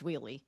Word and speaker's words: Wiehle: And I can remember when we moved down here, like we didn't even say it right. So it's Wiehle. So a lot of people say all kinds of different things. Yeah. Yeah, it's Wiehle.